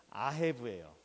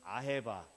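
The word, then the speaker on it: אהב: 또 다른 분은 아헤바 또는 오헤브, 오헤바 이러기도 하는데, 히브리어에는 자음만 있고 모음이 없어서 발음이 아도 되고 오도 되고 막 그렇습니다. 그러다 보니까 조금 발음이 서로 틀린데, 아헤브 보통 그렇게 말합니다.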